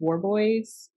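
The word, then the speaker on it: Worboys: warby's war boys orbeez i don't know how they say it it's w-o-r-b-o-y-s so it's war boys but boys they probably don't say it like that um but he in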